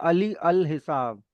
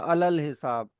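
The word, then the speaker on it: علی الحساب: अब यहाँ पे अगर यहाँ लिखा है अली अल हिसाब, बट इसको पढ़ा जाएगा अलल हिसाब। जो अगर छोटी ये आ रहा है अल से पहले कहीं भी, तो वो साइलेंट हो जाएगा, छोटी ए की साउंड साइलेंट हो जाएगी।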